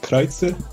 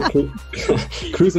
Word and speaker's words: Kreuzer: Yes, actually you pronounce it Kreuzer, but that's Kreuzer? hard to say. Yes. See, I used to ask guests how to say their names, but then I would screw it up anyway, so now I just go. No, Kreuzer is okay.